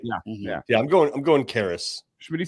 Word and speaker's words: Karras: local news stations in Toledo to find a pronunciation for Toledo's defensive coordinator. I'm going Karras. All right, lock in your predictions. Yeah, so his last name, for people that don't know, it's what, Kehres, right?